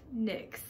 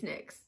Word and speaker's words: Nyx: Like, there's no other way to pronounce N-Y-X, is there? If I'm wrong, like, it's Nyx, I'm pretty sure. If it's like Nye or something, I'm gonna be so mad, but it's Nyx, I'm sure.